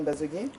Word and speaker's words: Mbazogué: C'est bien cela, Madame Mbazogué? Oui. Je pense que là j'ai bien prononcé. Oui, vous avez bien prononcé.